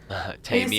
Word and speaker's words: Temu: I call it Temu, but it's Temu. Tame You you.